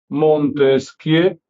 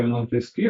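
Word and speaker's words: Montesquieu: Montesquie se escribe montesqui eu, pero no se pronuncia Monteski o se pronuncia en francés Montesqui, no suena.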